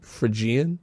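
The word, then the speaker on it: Phrygian: Yeah, I like that they chose what is apparently called the Friian mode spelled with a ph R Y G I A N. Frigian.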